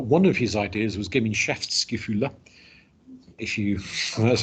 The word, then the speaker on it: Gemeinschaftsgefühle: But one of his ideas was Gemeinschaftsgefühle, that's how you pronounce that. Gemeinschaftsgefühle, which, being German, they like bolting several words together to form one really, really, really long word.